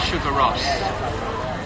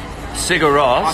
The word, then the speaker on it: Sigur Rós: Tell me about Sugar Ross. Sigur Rós. Sorry, I said it wrongly.